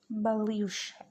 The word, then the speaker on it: Baloch: So the pronunciation of this word is Baloch, and it is divided into Western, Eastern, and Southern Balochistan.